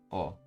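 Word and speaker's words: を: O, the particle represented by O is actually pronounced O instead of wo.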